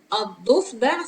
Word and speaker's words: الضفدع: Anyway, هذا الضفدع. See, I don't pronounce lamb because it doesn't have move, because it's lamb shamsiya, or a sun lamb because it's followed by dot, which is a sun letter.